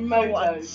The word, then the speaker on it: Komodo: So Komodo dragon, I finally know how to pronounce it. Komodo dragon.